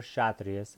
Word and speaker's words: Kshatriya: called the shut race now it has a K on it so you can pronounce the cassia trees or Kshatriyas ight I am inclined